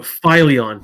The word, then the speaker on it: Fillion: fillion for what oh for us assuming that it's pronounced philly gotcha oh phyllion yes sorry finally you know